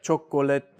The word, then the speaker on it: chocolate: still say that, like chocolate or something, whatever. But with English, we took it out. And so even though you still spell all of those syllables, native speakers now say chocolate.